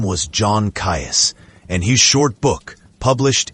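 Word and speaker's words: Caius: John Kais, pronounced keys, was no quack or village healer.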